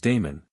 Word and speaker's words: Damon: Most writers tell us that his tutor in music was Damon whose name they say should be pronounced with the first syllable short.